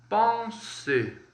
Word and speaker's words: penser: Então, quando eu for pronunciar o verbo pensar, que eu falo pense, né? No português, en français, vai ficar penser, como se fosse um ON, um otil, com um leve biquinho.